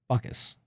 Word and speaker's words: Bacchus: So the easiest way to remember how to say it, other than the Baka part, the Bacchus, just think of the composer and us, like you and me, us.